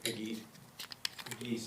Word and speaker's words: Pegues: Pegues, I think is how you There you go. You pronounce got it right.